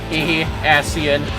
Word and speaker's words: Ascian: Ascian. Yeah, it's how it's pronounced.